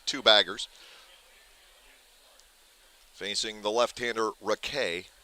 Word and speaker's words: Raquet: Facing the left-hander Raquet, spelled like racket.